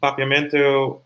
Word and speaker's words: Papiamento: papua mensa well first of all thanks for pronouncing popumento right sherry um papiamento um and something we say let's practice let's